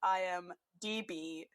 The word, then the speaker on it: IMDb: apology for my dumbass for every time I've mispronounced the Internet Movie Database acronym which is in fact I am DB and for some reason